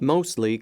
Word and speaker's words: mostly: Mostly company news. 자, 오답인데요. 이 발음 하나 주의를 하세요. mostly가 아니라 mostly 이렇게 읽어요. 예, 약간 T가 들릴 듯 안 들릴 듯.